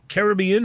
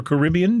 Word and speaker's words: Caribbean: here this is 10: one Caribbean or Caribbean depending on your preferred pronunciation uh rum so I'm very excited depend on where you put the uh osis osus on the proper salabo that's that's how we